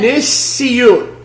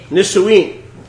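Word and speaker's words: נישואין: Nisiyun.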